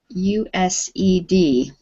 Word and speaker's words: used: okay good this word used this is the past tense of use and in this case we don't make it two syllables you said we just say used used used good okay so let's